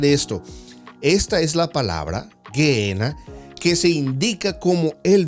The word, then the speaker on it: Gehenna: Ahora, la palabra griega Gehenna, pronunciada Gehenna, se deriva del hebreo Gehinón o el valle de Tofet, como anteriormente en la primera parte vimos.